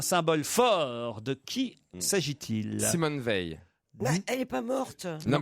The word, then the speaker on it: Simone Veil: Simone Veil. Elle est pas morte. Non, mais je sais. C'est Simone Veil et non pas Simone Veil. Ah oui, enfin, j'ai mal prononcé.